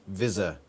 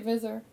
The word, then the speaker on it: Visser: Visser, as if it was Zed's. American. Is that what Americans do, is it? I say Vizor.